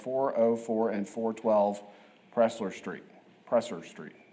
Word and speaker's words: Pressler: Presser Street. How do you say that? Prizer. Prizer, sorry, Prizer. I don't know. Prizer.